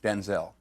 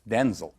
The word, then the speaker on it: Denzel: My name's not pronounced Denzel. My name's pronounced Denzel.